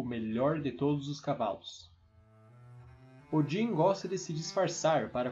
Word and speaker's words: Odin: Olden, ou como pronunciamos hoje, Odin, é o líder dos Æsir, a família de deuses principal.